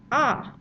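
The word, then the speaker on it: à: couple of years and that is simply pronounced ah ah sounds exactly like the verb form has or have um from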